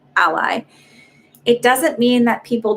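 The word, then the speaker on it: Alai: like joseph lay ally a-l-a-i is how he spells his name but he pronounces ally it doesn't mean that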